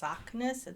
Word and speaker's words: Saknes: So it's Saknes. That's as close to the correct pronunciation.